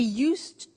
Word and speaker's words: used: some interesting things about him they said he used used to give only dogs to his friends